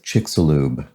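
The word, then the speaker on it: Chicxulub: the extinction of the dinosaurs and it is chiksulube crater so there we go i actually brought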